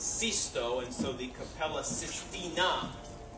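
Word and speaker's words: Sisto: for cisto in Italian it's not 6us in Italian it's cisto and so the capella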